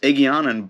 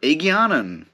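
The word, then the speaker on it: Egeanin: the shadow rising um aegianan is pronounced eggianon by at least um uh kate reading possibly also michael kramer i'm not 100 sure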